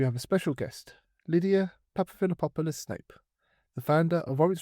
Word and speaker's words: Papaphilippopoulos: hopefully you'll uh do me the honor of pronouncing for me. Sure. So, my name is Lydia Papaphilippopoulos Snape.